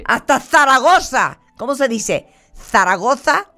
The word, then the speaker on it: Zaragoza: ¿Zaragoza o Zaragoza? No, Zaragoza, con 2 Zetas.